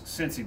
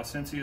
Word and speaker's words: Scentsy: Now, Cincy is spelled S-C-E-N-T-S-Y, so like scent, Cincy.